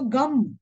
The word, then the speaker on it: Gam: So the mantra swarupa of Lord Ganesh, the first syllable of G is to be pronounced first, immediately being followed by the, we begin with Gana, which is the first beginning of it is G. Then the Anuswara, thus making it Gama.